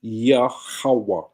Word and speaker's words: Yahweh: Yah, ha, wa, ah, which pronounces Yahweh.